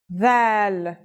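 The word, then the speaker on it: ذال: This letter is like the TH sound in the word this. Do you remember that we learned another letter corresponding to the English TH sound? It was tha, and it's pronounced as a silent TH, as in thief. This letter's pronunciation is a voiced sound, the, as in this or that. It's pronounced with the tongue between the upper and the lower teeth.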